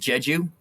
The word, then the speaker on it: Jeju: um uh i think it's supposed to be pronounced jeju yeah yeah so i know people can spend